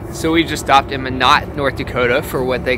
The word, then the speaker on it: Minot: Nate just said Minot, and I just felt like that sounded so wrong because it's spelled just like Pinot. So I've been looking at it as Pinot.